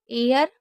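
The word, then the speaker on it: heir: एयर, honest, honour, our. ये 4 word meaning ऐसी होती है जिसमें आपको एच को नहीं पढ़ना है।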